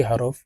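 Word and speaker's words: ح: নুন নুন যা হা হলকের মধ্যখান থেকে হা হরফ উচ্চারণ হবে কারণ হার মাখরাজ হলকের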